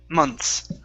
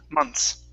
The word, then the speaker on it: months: Okay, so the trick here, remember, we don't want to pronounce the TH. Okay. Okay, and we pronounce it like that. Months. Months. Months. Yeah, take out the TH completely.